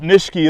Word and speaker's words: Nishiki: Japanese nurseryman said it and so Nishiki you wouldn't really quite say it exactly how it spelled out but Nitschke is a little bit more of how it's pronounced I was once traveling